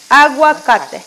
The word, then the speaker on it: aguacate: So it's like you saying agua, you know, water, agua, and then you add cate. Aguacate.